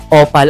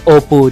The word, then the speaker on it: Opal: Universe Thailand ayan nga sabi nga ni mama Sam Hindi daw opal ang pag pronounce daon Opo daw Ayun sabi daw kasi ng